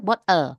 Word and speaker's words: bottle: For example, bottle itu kalau Indonesia kan mempronosnya jadi bottle ya Bapak Ibu. Tapi kalau native speaker bottle.